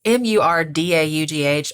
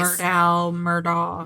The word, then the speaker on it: Murdaugh: And that Murdaugh, it's Murdaugh. I've heard it pronounced a million different ways. Murdaugh.